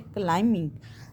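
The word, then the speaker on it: climbing: अगर मैं बिंग बोलती तो क्या होता? बी में उसकी साउंड निकाल रही होती। लेकिन यह है क्लाइंबिंग द माउंटेन। तो इसमें बी जो है हमारा कौन सा लेटर है? साइलेंट है।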